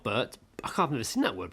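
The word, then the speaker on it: Birt: It's like it's like Bert, but with an I instead of a U. God, that's a great. Oh no, isn't That's it hard you? to say. Isn't Bert you?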